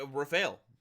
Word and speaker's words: Raphael: eight light dragon rumal monster pronounced Rafel because it's my custom card okay Rafel uh the dragon Knight's